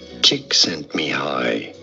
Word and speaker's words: Csikszentmihalyi: Mihai Csikszentmihalyi. Mihai Csikszentmihalyi. Cheek sent me high.